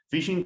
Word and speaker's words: phishing: Phishing, que en realidad se pronuncia igual que en inglés, el término phishing, que es con F en realidad al principio, y que significa pescar.